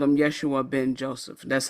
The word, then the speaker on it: Yeshua: find it yeah um Yeshua Ben Joseph there you go and yes isn't Yeshua a Hebrew pronunciation of Jesus it is but that's